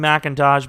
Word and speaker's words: McIntosh: I know it's supposed to be McIntosh, but you would think they would spell it with an M-A-C rather than M-C-I.